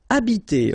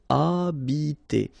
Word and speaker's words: habiter: Okay, remember that in French, the H, like that here, is not pronounced at all. Okay, so you don't pronounce it, so you get the first sound is the vowel A here.